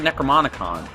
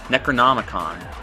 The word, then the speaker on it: Necronomicon: a clue there Monica I keep calling it the necromantic on I wasn't sure if I was saying it wrong but I am Necronomicon Candice which means she